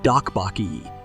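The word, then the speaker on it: 떡볶이: recipe versions of the most popular street food dupak it is pronounced roughly like like dobak is one of the most popular and it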